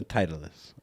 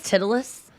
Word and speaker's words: Titleist: It's a titleist or titleist. I've never known how to pronounce that. Someone says Titulus. No. No, okay. Well, No. the hat. It's a Titleist hat.